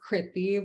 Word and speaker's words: Krithi: My name is actually pronounced Krithi with a short I.